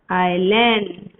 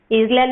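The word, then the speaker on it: island: Andaman एंड Nicobar आइलैंड। आइलैंड नहीं pronounce करने का, pronounce आइलैंड, okay, S silent है उसमें।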